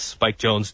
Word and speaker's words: Spike Jonze: Mike Jones, Jones. Spike Jonze, Jonze. Well, actually, Spike Jonze is spelled like Spike Jonze. So creative. Yes. You know, really creative. Like you switch the two letters around and change it to a Z.